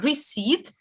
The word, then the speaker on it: receipt: need to remember is receipt with silent p yes recede okay and